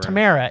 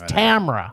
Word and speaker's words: Tamara: Sorry, it's not Tamara. It's Tamara. We know it, Tamara.